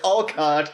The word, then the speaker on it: Alcott: Oh, however you Amos want to pronounce Alcock's and the Fruitlands. guys, come on. It's Alcott and it's Fruitlands. That sounds like a folk band that would open for the Funke family band.